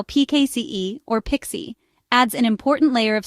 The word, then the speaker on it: PKCE: That's proof key for code exchange pronounced Pixie.